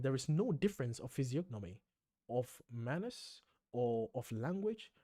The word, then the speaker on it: physiognomy: In all these islands, there is no difference of physiognomy. Holy shit, I've never heard this word. What? How do you say this? Physiognomy, the art of discovering temperament and character from outward appearance.